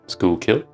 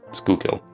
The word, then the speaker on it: Schuylkill: I hope I pronounced it right, Schuylkill. I didn't pronounce it right in my Nahvalur video, my review on these pens here, but I've been since corrected, Schuylkill.